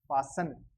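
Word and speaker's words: Passen: पी का पे, ए का आ पा, और डबल एस, डबल एस का अपन ने देखा था स, तो पा स, ई एन का अपन ने देखा था न, पासन।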